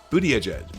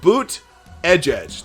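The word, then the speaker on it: Buttigieg: but a judge here's here's how you officially say his name you say booty edge edge like you know the guitar player for you too booty edge edge or booty no boot edge edge not booty edge edge that would be booty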